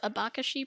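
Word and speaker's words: abacaxi: pineapple grown in brazil iba kashi yeah so this is a really good word um yeah so if i remember correctly i think it's pronounced something more like a a bakashi probably something like that okay okay um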